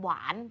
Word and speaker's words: หวาน: ที่ มี ห นำ หวาน เป็น คำ ที่ มี ห นำ ใน การ สะกด คำ เรา ก็ สะกด ว่า หอ วอ อา น หวาน ห ว อา นอ หวาน ครู ขอ อธิบาย ตัว